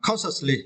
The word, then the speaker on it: consciously: For the next word, the word consciously, it is adverb. And you see, for this word, you need to stress the first syllables, con, right? Consciously, con, consciously. Consciously is meant in a